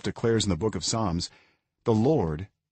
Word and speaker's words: Psalms: In the book of, 자, 이거 발음 어떡하죠? P하고 L 묵음이죠. 그러니까 이건 Psalms.